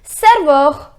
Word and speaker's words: serveur: The pronunciation is serveur.